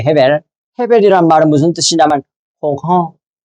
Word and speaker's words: 아벨: 아벨의 원래 발음은 헤벨이에요, 헤벨. 헤벨이란 말은 무슨 뜻이냐면 홍허, 텅 빈, 허무 이런 뜻이에요.